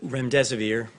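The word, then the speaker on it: remdesivir: you so much I wanted to ask out rent REM severe if I pronounced that correctly can you tell say is it currently approved for use on the virus so REM des aveer and it's a drug made by Gilead that's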